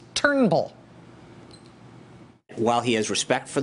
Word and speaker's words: Turnbull: conversation with prime minister Trumbull his name is not Trumbull it's Turnbull just those two syllables Turnbull while he has respect